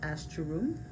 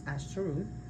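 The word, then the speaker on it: Ásatrú: So, some modern practitioners of Norse paganism known as Astaru, which I'm not sure if I'm pronouncing that right. I will spell it. A, S is in Sam. A, T is in Tom Ru. Right.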